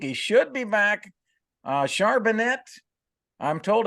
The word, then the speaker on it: Charbonnet: week to week he should be back uh charbonet I'm told it's pronounced charbonnet the rookie carbonne well I've been told charbonnet I thought I was saying Chardonnay and I